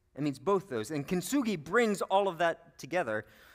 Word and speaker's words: Kintsugi: Kintsugi.